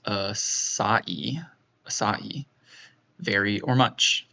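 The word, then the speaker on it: açaí: It's pronounced acai.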